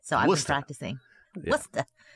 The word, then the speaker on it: Worcester: Worcester. Not Worcester. Not Worcester.